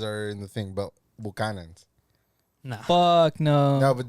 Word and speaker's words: Buchanan's: How do you guys pronounce it? It's, Buchanas? it's Irish whiskey. It's so Irish actually, Well, it's Buchanan's, it's right? Buchanan's. Yeah. Yeah. But the Hispanics call it Bucanas.